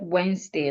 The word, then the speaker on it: Wednesday: excuse me like Wednesday in the word Wednesday as well the second e is silent clothes the E is